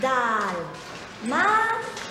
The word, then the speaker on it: Dálmata: Dalmata. El acento en la primera A, porque es esdrújula.